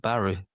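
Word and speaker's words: Barré: So that's going to be it's a good talent, Barry, to give the French pronunciation.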